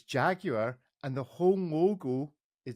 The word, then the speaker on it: Jaguar: Well, it seems to have failed at its first purpose, Ariel, by the mere fact that you pronounced it Jaguar, because it's Jaguar, and the whole logo is designed around the